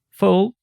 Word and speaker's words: full: it in mind that there are two sounds in the English language uh short and U long and you can protest but there are some words that are very different like full with a short one and fool with a long one full it's the opposite